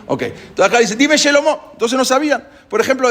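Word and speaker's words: שְׁלֹמֹה: Por ejemplo, Shelomó decían Selomó. ¿Sí? Shir, por ejemplo, canto, decían Sir.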